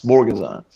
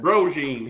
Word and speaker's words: Borguezan: me and they say, Mr. Borguezan. And that's exactly how you pronounce Borguezan. Okay. I heard it So- pronounced Brogine here about a week ago in Glencoe, and then Borguezan a day or two later.